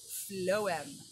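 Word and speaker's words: phloem: yesterday we did xylem today we do flow-em i believe it's spelled p-h-l-e-o-m where xylem takes the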